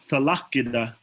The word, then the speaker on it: talakida: Anchogo talakida. Talakida. This is talakida. 3 syllables. Ki, or I guess 4 really. Talakida. Make sure you enunciate both of those K's.